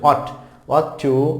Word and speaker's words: ought: তাহলে can, could, shall, should, will, would, May, mite, must, অট টু, OUGHT এর উচ্চারণ হচ্ছে অট টু, নিড, ডেয়ার।